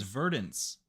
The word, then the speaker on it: Verdance: up into this pry her name is verdance verdant that's literally the word verdant well I was my